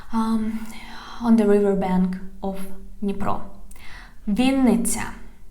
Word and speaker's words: Вінниця: Вінниця, Вінниця. Вінниця, we write it with double N. Вінниця. Вінниця. Pay attention. Вінниця.